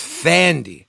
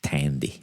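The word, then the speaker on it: Thandie: I thought it was Thandy. It is, but I think they pronounce it Tandy.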